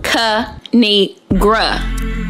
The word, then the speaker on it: Kinigra: me tell y'all a thing of three it's pronounced kanigra now subscribe I crack myself up thanks for